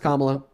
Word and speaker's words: Kamala: No, it's pronounced Kamala.